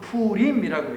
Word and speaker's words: 부림: 그래서 하나, 둘, 셋, 넷 여러 개가 있으면 뭐라고 하냐면 부림, 정확한 발음은 푸림이라고 해요.